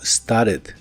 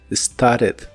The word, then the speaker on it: started: Lo puedes pronunciar como started con ambas T's normales y pronunciando la E de casi al final muy suavemente, o en inglés americano es común eliminar la última T de esta palabra y pronunciarla como started, started.